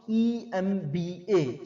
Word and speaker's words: MBA: He is an MBA or the MBA, he is an MBA, MBA is pronounced EMBA, starts with vowel and sound in EM।